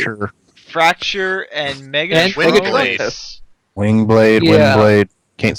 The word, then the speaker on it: Windblade: I keep saying Wingblade. Is it Wingblade or Windblade? Wind. Okay.